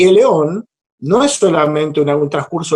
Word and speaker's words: aión: kairos y dice keros, y eón, se escribe aión, ¿sí?